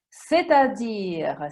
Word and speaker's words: c'est-à-dire: C'est-à-dire, si scrive così e si legge come ho detto, vuol dire cioè.